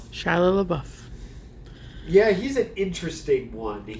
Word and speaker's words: Shia LaBeouf: But starring in this movie was how do you pronounce it? Shia LaBeouf. Shia LaBeouf.